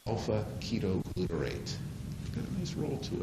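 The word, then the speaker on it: alpha-ketoglutarate: rolls off the tongue I'll pronounce it for you so that when you use it uh in Social set you won't you know mispronounce it that's Alpha the little squiggle at the beginning is the Greek letter Alpha that's Alpha ketoglutarate got a nice roll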